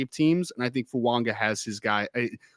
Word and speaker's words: Fuaga: offensive tackle 1 off the board is Talisi Fuanga out of Oregon State, which hilarious. I was calling him Talise Fuaga for like the longest time, and apparently I